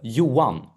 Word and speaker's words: Johan: So, Edmond plays uh Johan Strand or Johan. I said Johan. Uh it's whatever you like, but it's the Swedish pronunciation is uh Yuan. Yuan. Okay. Ed plays Yuan Strand and it is